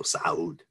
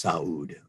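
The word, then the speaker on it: Sa'ud: so you know that it should be pronounced as two separate syllables if your your throat can constrict it's um but if you can't it's saud so ibn saud um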